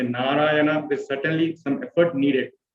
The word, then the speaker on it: Narayana: So if you see Narayana, Na, Ra, Ya, Na, each of the syllable makes us to keep our mouth open, and it makes us to pronounce the word in a, there is a certain stress or effort needed.